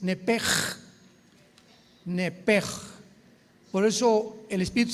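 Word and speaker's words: נפש: Enrique, sh, como suena nepesh. Nepesh se pronuncia en el hebreo como j es nepej.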